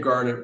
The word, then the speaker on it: Garnet: First name Garnet, 1 T, rhymes with darn it.